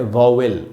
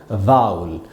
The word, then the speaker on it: vowel: इस वर्ड को VOWEL को हम पढ़ते हैं वॉवेल। वॉवेल नहीं पढ़ना है दोस्तों, वो सही उच्चारण नहीं है। इसका शुद्ध उच्चारण क्या होगा? तो यह है दोस्तों वा ऊ आधा अ और ल, इसको हमको पढ़ना चाहिए वाउल। आधा अ जो है उसको बहुत कम पढ़ेंगे, वाउल। इसको वॉवेल नहीं पढ़ना है, वाउल पढ़ेंगे।